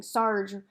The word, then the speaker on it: Sarg: little person here saying sarge rhymes with argh in case you want to know how to pronounce it so this is who